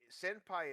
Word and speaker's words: senpai: Like there's a Yeah, reason why senpai is supposed to be spelled senpai, but senpai with the m also because there's such a low stress on that vowel that it can be mistaken for somebody saying with the m sound instead of the n sound.